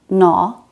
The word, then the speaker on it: gnaw: This is silent when a word begins with a GN. Gnome, gnat, gnaw.